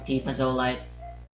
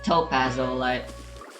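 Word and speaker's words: t+pazolite: I suddenly started singing Oshama Scramble from Tipazolite. I Or know. Topazolite. That's how you pronounce his name.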